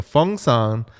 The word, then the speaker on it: Phungsan: okay, so Fungsan is spelled Phungsan, the national dog among the Korean people.